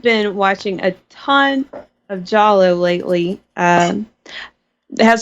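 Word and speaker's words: giallo: an italian kind of a sub genre called jollo spell it for people it's g i a l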